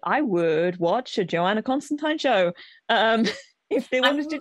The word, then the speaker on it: Constantine: It was always Constantine because it rhymes with wine.